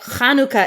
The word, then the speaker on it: Chanukah: they go, oh, well, the reason that Chanukah is pronounced with a ch, and lamb chop is not lamb chop is that lamb chop is English and Hanukkah is Hebrew, and different words pronounce things differently. Different languages are different.